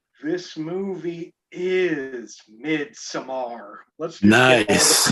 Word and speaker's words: Midsommar: Midsummer. This movie is Midsommar. Let's just get all the pronunciations out.